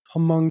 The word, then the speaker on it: Hmong: in that area and a lot more of Hong people have moved in to that area M you don't pronounce the a m okay yeah M people have moved in since